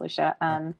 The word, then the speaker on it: Lucia: My name is spelled like Lucia. It's pronounced Lucia.